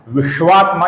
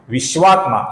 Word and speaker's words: विश्वात्मा: श है ये श नहीं है तो इसका उच्चारण होता है विश्वात्मा विश्वात्मा ये गलत होगा विश्वात्मा ये सही उच्चारण है और अंत में जो